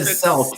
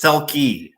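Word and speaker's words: Selke: You said Selk. It's Selkie.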